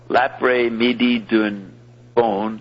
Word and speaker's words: L'après-midi d'un faune: setting of an erotic poem by Mallarmé called L'après-midi d'un faune, that would be the afternoon.